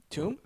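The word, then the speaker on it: tome: And is that how you pronounce that word? Tomb?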